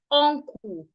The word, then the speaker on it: uncle: You hear Nigerians say uncle. Oh, your mouth is rounded. That is wrong. Don't make your mouth rounded. Instead, make your lips make it in a neutral position and open your mouth halfway.